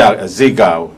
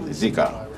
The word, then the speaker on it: Zika: goes wrong like Z ziga whatever they call call it zika that's how you say it zika you know they put